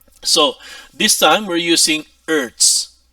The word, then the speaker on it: Hertz: this time we're using Earths no Earths uh silent h Earths one Earth is